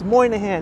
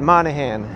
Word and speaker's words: Moynihan: people will be like no it's moynihan moynihan moynihan moynihan not monahan brian z is saying